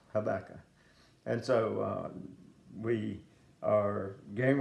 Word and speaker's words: Habakkuk: at the book of Habakkuk, Habakkuk, but it's pronounced Habakkuk.